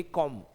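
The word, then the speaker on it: comb: लेकिन जब एम के बाद बी आता है ना तो वो बी साइलेंट रहता है। जिसे आप बोलेंगे कॉम्ब कॉम्ब नहीं कॉम्ब नहीं बोलेंगे इसे आप बोलेंगे कॉम्ब।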